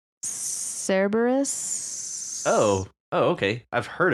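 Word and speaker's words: Cerberus: Although that's really not how you say his name, but I like to say that because it's cute. How do you say it? Uh, Cberus.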